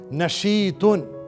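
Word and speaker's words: نشيط: नशीतुन, इसकी स्पेलिंग सुने.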